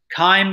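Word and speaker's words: chyme: forgot to put on any of these slides time is spelled CH y em e so the bolus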